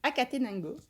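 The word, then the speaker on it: Acatenango: Et donc celui-ci qui est plutôt connu, alors je sais pas si je vais bien le reprononcer, c'est le volcan de Akatenango, Oui, Akatenango.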